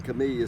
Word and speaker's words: camellia: one is right, and their conclusion was either way is fully recognized and perfectly acceptable. So you say whichever. Most of the time you're going to hear me say Camellia.